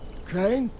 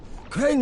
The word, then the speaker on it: Crane: no my name's crane crane crane rhymes with train and brain and sign and grain and rain and plain and the other kind of plane and and can i